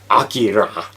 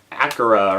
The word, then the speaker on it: Akira: a very important movie akira or acura or whoever pronounces it whichever which way um i this is